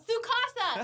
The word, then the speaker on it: Tsukasa: Tsukasa! It starts with a T. Yeah, it does. The T is silent. Yeah, that's true. Tsukasa.